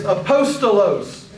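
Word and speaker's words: ἀπόστολος: Remember the Greek letters always are pronounced the same way basically. So let's look at these words. The first word is aposttolos.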